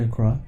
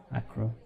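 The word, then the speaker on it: Accra: the track now so we landed in a crop that's how I learnt to pronounce it by the way it's not a crow that's what that wasn't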